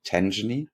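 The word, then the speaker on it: Tangany: the crypto custody fintech Tangy you interviewed them is that how you pronounce it tenen yes exactly I I I always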